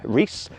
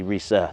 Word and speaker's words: Reese: They've obviously bought Fabian Reese. We'd say Reese, but Germans would say Reese-a. They pronounce the E.